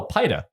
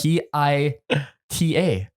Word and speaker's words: pita: I was like, no, pida. And I was like, what the fuck are you saying? And then you said, French, just like French bread. He goes, spell it for me. I'm like, P-I-T-A. Pida. I go, no, you fuck. It's Pita. pita.